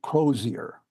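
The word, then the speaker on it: Crozier: was O RL crosier originally his name was spelled with a z and I use it throughout here for the most part in Adventist literature he tends to show up as crosier with an S uh he was millerite figure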